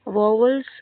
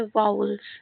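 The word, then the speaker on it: vowels: वॉवल्स इसको नहीं पढ़ते हैं, इसका सही प्रोनाउंसिएशन होता है वाउल्स, है ना।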